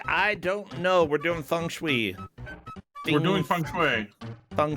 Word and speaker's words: feng shui: to find out about feng shui which is apparently pronounced that way which I've always known